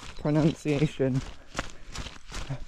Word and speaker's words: pronunciation: wrong every time, because you should say it like pronunciation, although there is no O in the middle. It's spelled like pronunciation. But you pronounce it like the root word pronounce.